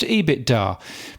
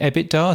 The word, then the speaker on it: EBITDA: I always thought it was pronounced EBITDA, but Ross Adams ended up pronouncing it EBITDA.